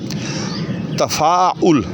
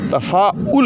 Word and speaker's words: تفاعل: باب تفاعل سے ہے۔ تفاعل، تے پر بھی زبر ہے، فے پر بھی زبر ہے، عین کے اوپر جو ہے جو کہ چوتھا حرف ہے، تے فے الف عین، تفاعل، تو عین کے اوپر زبر نہیں بلکہ پیش ہے، تفاعل ہے۔ تو اس قسم کے